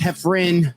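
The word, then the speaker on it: Heffron: One is pronounced Hefin but spelled Hefron.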